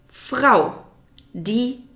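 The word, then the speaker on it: Frau: next noun would be FR D FR D FR D is feminine FR is feminine you have to roll the r at the back of your throat this takes a bit of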